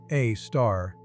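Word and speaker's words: Sagittarius A*: a supermassive black hole named Sagittarius A0, pronounced A star, anchors our entire galaxy.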